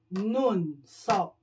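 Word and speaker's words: 눈썹: Eyebrows, nun. Sop.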